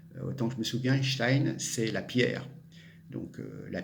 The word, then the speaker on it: Stein: C'est Stein, c'est pas Stein à l'américaine, c'est complètement bidon.